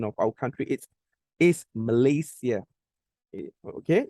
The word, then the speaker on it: Malaysia: It's not Malaysia. Okay. The correct pronunciation of our country is Malaysia. Okay. It's not Malaysia. It's not Malaysia. No, it should be Malaysia.